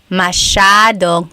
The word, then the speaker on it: masyadong: Elijah said, how do you pronounce masyadong? Masyadong means a lot. So the S-Y-A is a sh sound. Masyadong.